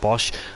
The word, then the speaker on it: Bosch: race in P5 as finally say his name right he's called po BOS Evans not Posh Evans as well so apologies about that Bosch and he's got bump